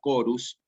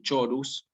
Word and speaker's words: chorus: C con H, con la palabra chorus. Esto no se dice chorus, sino que se dice chorus, pero son palabras como Cristi. Yo no digo chistri, sino digo Cristi. Entonces suena como una K.